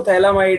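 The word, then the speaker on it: phthalimide: लिखते बोलते इसको थैलामाइड है, मतलब लिखते पथैलामाइड है, बोलते थैलामाइड है, ठीक है। तो अब जरा ध्यान से सुनना यहाँ पर क्या होगा। मैंने क्या करा, हाँ प्रोनाउंस इसको थैला ही करेंगे।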